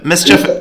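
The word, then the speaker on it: MSCHF: Mischief, it's spelled M-S-C-H-F, I think, something like that.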